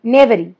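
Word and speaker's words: knavery: ঠিক আছে, চলো নেক্সট হচ্ছে নেডারি, সরি নেভারি। নেভারি, নেভারি কথার মানে কি? Dishonest act, dishonest act, নেভারি। ঠিক আছে, কে উচ্চারণ হয় না।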